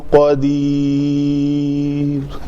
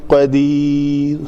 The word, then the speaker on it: قدیر: ہے قاف زبر قا, تو اس کو پڑھیں گے شیء قدیر قاف زبر قا قدیر. اردو لہجے میں کیا کہہ دیتے ہیں, عام ہم کسی کا نام لیتے ہیں قدیر کو تو کیا کہتے ہیں قدیر قدیر, تو قاف زبر جو ہے وہ نہیں پڑھتے قدیر, تو اسی شکل